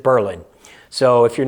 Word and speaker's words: Berlin: And in Massachusetts, we have a town pronounced Berlin. Spelled like Berlin in Germany, but I'm guessing they didn't want to be confused with the German city, so they went with Berlin.